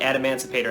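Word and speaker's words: Adamancipator: it only took me what like a month add Emancipator and Emancipator Emancipator I mean I feel like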